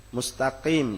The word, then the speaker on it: mustaqim: Mustaqim dibaca mustaqim. Ghairil maghdu, dot dibacanya ghairil maghdu dengan dal.